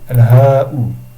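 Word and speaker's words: الهاء: Sauf qu'au lieu de dire ism majrur, c'est un ism majrur, le damma, le damir, al-ha'u. C'est marqué hi. Il faut le prononcer al-ha'u.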